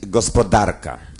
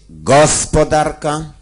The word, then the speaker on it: gospodarka: Facet prędzej czy później musi postawić akcent fałszywie, to znaczy na pierwszej sylabie wyrazu, czyli pójdzie pod prąd języka ojczystego, jeżeli to dla niego ojczysty. Bo on nie może powiedzieć gospodarka. On musi powiedzieć gospodarka albo to swoje w